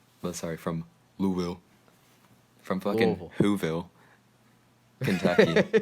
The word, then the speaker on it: Louisville: It's not Louisville. It's Louisville. Louisville. No, Louisville. Okay. Louisville. That's how they say it over there.